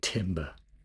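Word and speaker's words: timbre: That's one of those words that I always feel like cuz you can't say timber. You'll need to recreate the just cough over it because you can't say it too French because then that's pretentious. But you can't say it without a little bit of a French accent because then uh you just sound um like you don't know what you're talking about.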